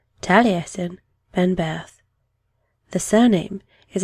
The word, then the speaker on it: Taliesin: first encounter the heroes of welsh legend you pronounce his name taliesin then birth the surname is a title translating